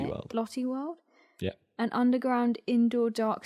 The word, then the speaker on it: Lotte World: Lotte World?